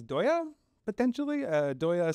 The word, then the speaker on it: Deye: I think I think the way it's it's pronounced in Chinese is doya potentially uh doya sounds